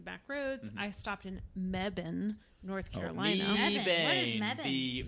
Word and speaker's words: Mebane: I stopped in Mebane, North Carolina.